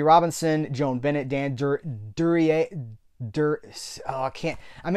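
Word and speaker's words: Duryea: Robinson, Joan Bennett, Dan Dur Durier Dur. Oh, I can't. I'm in my own head now. Durier. Dan Durier. I always called him Dan Dura and then uh I don't that's not right.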